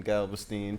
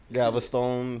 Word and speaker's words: Galveston: I really wonder how them folks was in Galveston, Texas, once they found out.